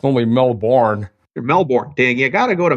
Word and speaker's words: Melbourne: How about Melbourne? Did I say Melbourne right? You did say Melbourne right. That's very rare for North American. It's normally Melbourne.